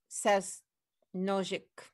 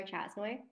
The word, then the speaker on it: Chasnoy: Sasnojic. Hi, it's Chasnoy.